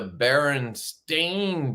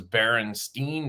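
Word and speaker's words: Berenstain: was like 30 but it's actually the be Baron stain Bears it's spelled s t a i n Baron stain bears and I would have bet you a thousand doll it was Baron Steen Bears I swear they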